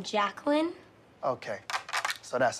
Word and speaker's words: Jacqueline: where's Jay Quellin net no Jay Quellin here do you mean Jacqueline ok so that's how